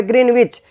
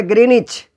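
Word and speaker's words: Greenwich: यानी कि अगर इसकी बात करें तो इंग्लिश मीडियम में की बुक जो है उसमें ये स्पेलिंग इसकी दी हुई है, ग्रीनविच, और जबकि हिंदी वाली जो है ना किताब में लिखा हुआ है ग्रीनिच। तो ये सही इसी को माना जाता है।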